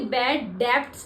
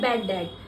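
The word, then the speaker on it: bad debt: ये बैड डेप्ट्स नहीं बोलते हैं, ये बी होता है साइलेंट, तो इसको बोलते हैं बैड डेट, ठीक है।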